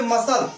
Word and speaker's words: muscle: अब यहां पर सी का कोई उच्चारण नहीं है। साइंस, साइंस मीन्स होता है विज्ञान। यहां पर सी का कोई उच्चारण नहीं है। अब यहाँ पे मसल, मसल मीन्स होता है मांसपेशी।